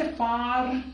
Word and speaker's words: far: Now in British English, at the end of any vowel, at the end of any word, R is normally silent. R को हम pronounce नहीं करते. सो हमारे पास word है far. अब आप इसे far नहीं कहेंगे, आप बोलेंगे far.